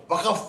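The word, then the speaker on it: वक़्फ़: वफ का मतलब नहीं लोग इसको प्रोनाउंस नहीं कर पाते वफ को वकफ वकफ भाई क्या बोलते हैं अलग अब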